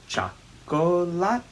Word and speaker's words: chocolate: Bate, bate, chocolate con arroz y con tomate. After that, we're just counting uno, dos, tres, and saying each syllable of chocolate. Remember, in Spanish, chocolate is a 4-syllable word.